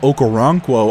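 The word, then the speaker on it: Okoronkwo: some pressure a sack for Houston that's agbania okaranquo I think is how you say his full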